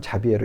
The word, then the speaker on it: 자비에르: 외국 발음이니까 사비에르 또는 자비에르 이렇게 부릅니다.